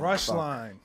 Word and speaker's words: Roeschlein: Roeschlein. Roeschlein. Well, they should put a U instead of an O.